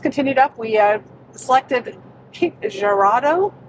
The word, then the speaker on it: Girardeau: We selected Cape Girardeau. How do you pronounce it? Cape Girardeau or Cape G.